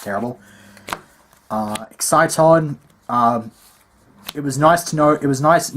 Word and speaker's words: exciton: got an exciton and it's pronounced exciton people not exaton exciton is a real